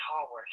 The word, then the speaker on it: Haworth: Was it Jill Hayworth or something? Was it? Jill, I think her name. I think you pronounced it Haworth.